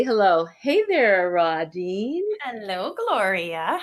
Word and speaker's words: Rodine: I think Rodine.